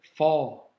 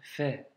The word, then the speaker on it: ف: À prononcer de manière amincie. D'accord? Ça, c'est important. Ne pas dire fort, c'est juste fait. Ok? Fait, fait. Un petit F, entre guillemets. Pour te situer un petit